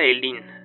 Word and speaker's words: Oilean: Se pronuncia Elin, algo por el estilo.